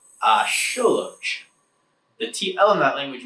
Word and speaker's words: axolotl: The x in Nahuatl makes a sh sound, and you usually put the pronunciation on the second to last syllable.